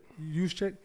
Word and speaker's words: Juszczyk: Juszczyk.